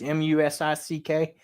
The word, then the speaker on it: Musick: We hired Kelsey Musick. I'm going to say how it's pronounced, Musick.